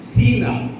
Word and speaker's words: சீலா: ஷீலா கிடையாது, என்னது சீலா. சரிங்களா? சில்வானு அப்படின்னு சில இடத்துல வரும் பைபிள்ல, புதிய ஏற்பாட்டில். அதுவும் சீலாவும் ஒண்ணுதான். அது கிரேக்க உச்சரிப்பு. சில்வானு அப்படிங்கிற வார்த்தை கிரேக்க உச்சரிப்பு. சீலா என்கிற பதம் யூத, அதாவது எபிரேய உச்சரிப்பு. அவ்வளோதான் வித்தியாசம்.